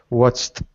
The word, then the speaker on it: watched: with matched watched matched so after ch Ed equals a t Okay watched perfect watched excent excellent